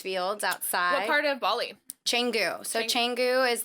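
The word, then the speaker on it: Canggu: just like gorgeous baby and it smell like kangoo but yes it's changu yes changu yeah um kind of funny pronunciation um but yeah basically we were never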